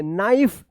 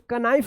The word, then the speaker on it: knife: KNIFE क्या पढ़ेंगे? नाइफ। इसको कनाइफ मत पढ़िएगा, नाइफ।